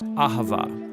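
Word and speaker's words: אהבה: word in most languages as it is in ancient hebrew it's pronounced ahava it most basically refers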